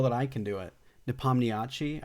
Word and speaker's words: Nepomniachtchi: Nepomniachtchi, I think is how you pronounce it, but it took.